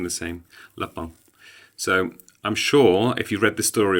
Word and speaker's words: Lapin: french which is pronounced that's how it's pronounced in french le pal is a french word they've translated everything into english but they've kept his name the same la pang so i'm sure if